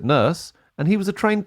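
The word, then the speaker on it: Nourse: The original book that used the title Blade Runner was by this guy, Alan Norse. I pronounce it Nurse.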